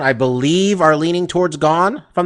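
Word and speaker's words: Gane: for this one fight cyril gone i'm i finally said it right i i stopped with the gun i'm going surreal gone taking on um alexander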